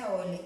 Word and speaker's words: Euler: Eu preciso lembrar, Euler, na verdade, que a pronúncia é Euler, mas se escreve Euler, que o número de vértices mais o número de faces é igual ao número de arestas mais 2.